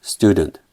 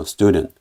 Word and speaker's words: student: 다 찾아봤습니다 그래서 보시면은 student 강세가 역시 첫 번째 음절 있죠이 달러 표시 왼쪽이 영국 발음이고 오른쪽이 미국 바람이든 그래서 student student 역시 강세 음조를 살려서 student 그리고 이제 품사 나운